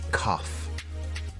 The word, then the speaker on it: cough: the word cough has an unusual pronunciation instead of a g sound we have an F sound here do you have a cough and the medicine for